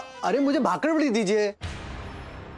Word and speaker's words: भाकरवड़ी: अरे भाकरवड़ी देते हो क्या? भाकरवड़ी मेरे को, भाकरवड़ी चाहिए। नहीं नहीं मिलेगी, पहले ठीक से बोलना सीख, उसका सही उच्चारण होता है भाकरवड़ी, बकरी बकरी का ब, भाकरवड़ी बोल के दिखा, भाकरवड़ी।